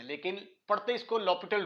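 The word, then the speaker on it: L'Hôpital: है वह होता है ल पिटल रूल इसके जो स्पेलिंग है हॉस्पिटल के होते हैं लेकिन पढ़ते इसको ल पिटल रूल है लपट रूल लपट रूल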